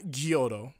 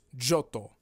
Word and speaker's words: Johto: It's not Gyoto, obviously. It's Johto. Johto, not a place or thing, but a person.